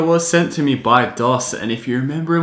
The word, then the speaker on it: Doss: were basically a replica I called them Do's uh that was like pronouncing it like Bose anyway nevertheless this company is a legitimate company called Doss and well they offered